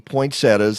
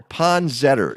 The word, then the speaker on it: poinsettia: the biggest and the most spectacular are the poinsettias i know joan you say poinsettia um we determined on this show many years ago that the proper way of pronouncing it is ponzer so ponzetter is the name of the plant pond setter